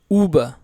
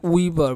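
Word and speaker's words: über: উ, উ, উবা, উবা। অনেকে উইবার বলে, উইবা, উবা, উবা মানে হচ্ছে উপরে।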